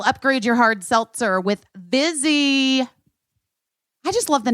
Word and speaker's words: Vizzy: getting vzy with it it rhymes with fizzy it's Fizzies are fizzy